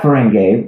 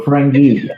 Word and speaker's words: Ferengi: And I kept saying, we're not Ferengi, we're Ferengi. And I'll prove it. I know how to pronounce it.